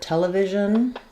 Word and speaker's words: television: So, tell four syllables, first syllable stress. We have the e vowel in tell. The second e is going to be awah because it's unstressed. And then we have the the i sound in vision.